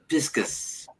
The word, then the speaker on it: Pisces: and so, Piscus for the Latin pronunciation of Pisces.